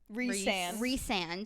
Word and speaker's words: Rhysand: Who is so from at this point you meet this guy named it's pronounced Rhysand.